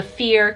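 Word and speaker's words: Fíor: It is called The Fear Clinic, so it's spelled F-I-O-R clinic. Fear in Irish means true, because I want people,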